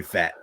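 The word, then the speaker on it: Pfaadt: yeah it is how how else would you pronounce it patit I don't know totally it's totally fat but um so he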